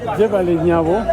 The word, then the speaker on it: Jebaale Nyabo: How do you say it? I'm forgetting it. Jebali. Jebali Nyabo.